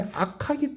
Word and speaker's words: 악하기: 그 사람이 악하기 때문에 상처를 준다는 거예요. 그리고 또 하나는 뭐냐면 그 사람이 약하기 때문에 상처를 준다는 거예요. 자, 따라합시다. 악하기 때문에, 약하기 때문에. 발음을 구별하셔야 됩니다.